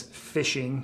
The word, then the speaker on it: phishing: to be hacked uh a term I hear often is fishing but it's spelled with a p not like going out and fishing but I think they're